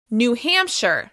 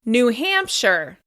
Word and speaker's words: New Hampshire: New Hampshire. The stress is on the first syllable of the second word. New Hampshire.